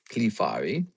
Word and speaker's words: Clefairy: That's how you say it, by the way. Clefairy.